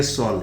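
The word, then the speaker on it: solemn: पूछा गया और यह सोल है ध्यान दीजिए की इसका प्रनंसीएशन देखिए यहां पर यह एन साइलेंट इसका प्रनंसीएशन है एक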